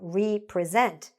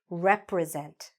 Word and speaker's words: represent: But when we join it, it doesn't become represent because represent would mean that you present something again. But that's not the word here. This word is represent. I represent the company. I represent, okay? Rep. So what's important is not re, but rep. Represent. I wanted you to pay attention to this rep, but the stress is actually here.